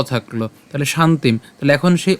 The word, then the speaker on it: শান্তিম: তাহলে শান্তিম। তাহলে এখন সেই অ এর সাথে এ ধগচ্চিতি উচ্চারণ করছি।